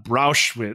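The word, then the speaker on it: Brauchitsch: Now, in the opinion of his commander-in-chief, Field Marshal Walter von Brauschwitz. It's always good when it rhymes with Auschwitz.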